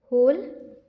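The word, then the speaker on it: whole: ओ एल ई से इसमें डब्लू क्या है साइलेंट है ये क्या है साइलेंट ये क्या हो जाएगा होल day lung the dog used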